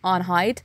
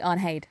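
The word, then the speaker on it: Arnheid: saying her name wrong I kept saying unhide but it's actually unhaid I feel bad for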